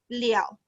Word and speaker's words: 了: Okay, actually this one I not pronounce le already. We will pronounce liao.